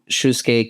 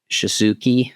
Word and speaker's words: Shusuke: Well, yeah, like I remember like Shusuke Kaneko. I remember I used to pronounce it like Shizuki, I think is how I used to pronounce it.